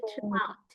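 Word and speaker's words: throughout: GH-nya enggak usah diikutin.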